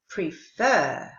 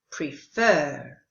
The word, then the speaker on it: prefer: prefer. Did you hear that? All of the others were pronounced but the verb is with the stress on the second syllable, prefer.